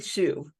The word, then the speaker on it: Hsu: I can never say it right. HSU, Jenny Shu.